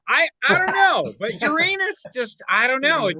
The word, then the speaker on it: Uranus: you're hairy starfish no Uranus you know they they tried putting the emphasis on the first syllable you know and no that didn't catch on no way look if